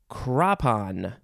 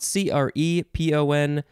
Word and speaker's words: crepon: Next is crapon. Is it crapon? Crapon, but it's spelled C-R-E-P-O-N. I'm trying to figure out the, I'm misreading it. It is crepon.